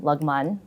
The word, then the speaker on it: Lagman: But I always tell people like through the union I actually learned that you pronounce my name Lagman, which nobody says.